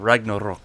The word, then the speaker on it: Ragnarök: I like that pronunciation there, Ragnarök. Yeah, gotta get the umlaut.